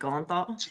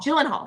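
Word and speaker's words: Gyllenhaal: TV and it's called Presumed Innocent with Jake gothal Jake golen Hall so so did I say it right Goen hall jenal gyllen Hall gyllen hall right gyllen hall and um it's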